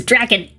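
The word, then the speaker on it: Drakon: It's Draken. Like the villain from Kim Possible, for anybody who cares.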